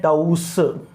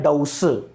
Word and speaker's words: dose: तो देखो DOZE, पहली बात तो इसका प्रोनाउंसिएशन होता है डाउज, और DOSE का प्रोनाउंसिएशन होता है डाउस। DOZE का प्रोनाउंसिएशन होता है डाउज और DOSE का प्रोनाउंसिएशन होता है डाउस, ठीक है।